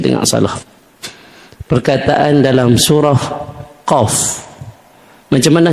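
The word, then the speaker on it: ق: salah perkataan dalam surah qf macam mana hejaan qaf qaf Alif Fa jadi bila kita nak sebut permulaan dia kita sebut Q nampak jangan kita sebut macam orang kampung qf tu salah nah baik Allah mula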